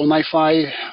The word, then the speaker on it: NiFi: so let's get started so MiFi that's how it gets pronounced it's distributed data flow